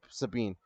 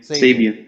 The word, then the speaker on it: Sabian: So, starting off with the first match is AEW's All Atlantic Championship match, Pac versus Keep Sabine. Or Sabine. However the fuck you Kip pronounce Sabian. it. Sabian.